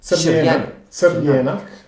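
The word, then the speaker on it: Crljenak: It's called Kribidrag or Sirjenik. Am I pronouncing it right? Sirjenik. You were very close. Not bad. Not bad.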